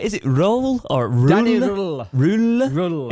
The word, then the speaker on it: Röhl: Is it Röhl or Röhl? Danny Röhl. Röhl. Is it Röhl? It's like Hull.